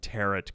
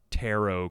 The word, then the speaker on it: tarot: the other day and i was calling them tarret cards and they're actually tarot cards you learn a lot